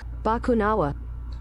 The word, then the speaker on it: Bakunawa: How do you say it, though? Bakunawa. Okay, like how I've been saying it.